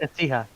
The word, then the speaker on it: Ecija: Here's a question, and do pardon me if I get pronunciations wrong, not being local, but I believe it's Nueva Ecija? Ecija, Nueva yeah, it's Ecija.